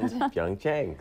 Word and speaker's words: Pyeongchang: Pyeongchang.